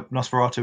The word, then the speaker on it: Nosferatu: I want to say it's Nosferatu Toys, but I might pronounce that terribly. That's how Nosferatu is pronounced.